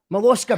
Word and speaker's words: Mollusca Vita: Mollusca. Vita. Hello. Am I pronouncing that right? Yeah, Mollusca Vita. It's just mollusk with an A on the end.